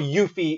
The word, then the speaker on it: Yuffie: but Yuffie is the correct answer. That is how it's supposed to be pronounced.